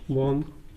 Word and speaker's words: bomb: अगर एम के बाद बी आ जाए तो बी को साइलेंट कर देते हैं। जैसे COMB कॉम्ब, BOMB बॉम्ब, CLIMB climb, DUMB डम।